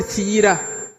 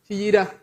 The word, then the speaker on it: Kiira: But now I need to start by correcting the pronunciation of the word Kiira. This place is called Kiira. Kiira.